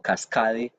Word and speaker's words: Cascade: La grifería Cascade se escribe como cascade, se pronuncia cascade en todos los acabados que sean distintos al cromado.